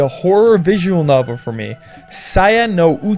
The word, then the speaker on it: Saya no Uta: visual novel for me sian no you talk like Pope that's how you pronounce it is a title released